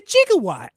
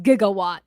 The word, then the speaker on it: gigawatt: the hell is a jigawatt gig it's actually pronounced gigawatt yeah but okay here